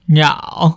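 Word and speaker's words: 鸟: Well, this character means bird and is pronounced niao.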